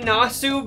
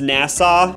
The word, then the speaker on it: Nassau: were being Rock to sleep we're in the nasu Bahamas I guess it's pronounced Nassau my bad oh but it's time to see